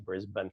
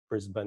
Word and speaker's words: Brisbane: think like it looks like I suppose it does look like Bane, but it's actually Brisbane. It's kind of like Melbourne, Brisbane.